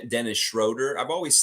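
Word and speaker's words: Schröder: It's Schroder. If you really want to say it right, if you want to put that German inflection in it, Schroder.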